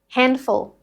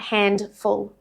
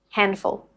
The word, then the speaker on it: handful: So, when the nd sits in the middle of a syllable, the d gets caught between the n and the consonant that follows, and it drops. Handful, not handful, handful. Handshake becomes handshake.